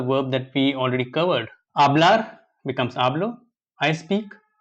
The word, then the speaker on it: hablar: We don't pronounce H and we pronounce V as soft B. Hablar and vivir.